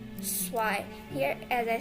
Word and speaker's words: zwei: then 1, 1, 2, zwei. Here, as I said earlier, that Z will sound like S and S will sound like Z. So here it's Z, but its pronunciation is just like S, zwei.